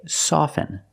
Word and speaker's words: soften: With both words, I don't pronounce the T. I say soften, and I say often.